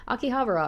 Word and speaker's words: Akihabara: Akihabara here we go finally said it right Akihabara I could walk and getting there was easy